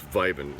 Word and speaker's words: Vibin': It's Vibin, like Vibin without the G at the end.